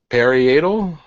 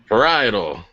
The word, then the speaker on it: parietal: uh oipal temporal and starts with a P peratal peral peral somebody can write in and tell me how to pronounce that glad got paral paral parietal all right all right